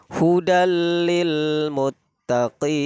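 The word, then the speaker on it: هُدًى لِلْمُتَّقِينَ: Ketika ada kalimat hudan lil muttaqin, maka cara membacanya idgham bila gunnah. Bila itu artinya tanpa, dengan. Jadi kita membacanya hudalil, hudalil. Jadi tanpa harus hudal, itu tidak boleh. Maka harus dibaca hudalil muttaqin.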